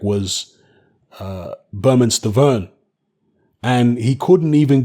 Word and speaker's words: Bermane: uh steven's name it's bermane steven not burma steven well yeah it's spelt bermane but berman steven himself says it's pronounced berman so hey don't argue